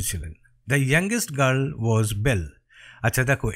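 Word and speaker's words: Belle: The youngest girl was বেল। আচ্ছা দেখো, এটার উচ্চারণ কিন্তু বেল হবে, হ্যাঁ, শেষের যে ই আছে সেটার কিন্তু উচ্চারণ হবে না, বেলে বলে কিন্তু উচ্চারণ হবে না, হ্যাঁ, বেল হবে, ঠিক আছে?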